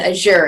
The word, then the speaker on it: Azure: Azure Active Directory and I do believe it's pronounced ash or it city or as sewer and as you're in the industry but Asher is the one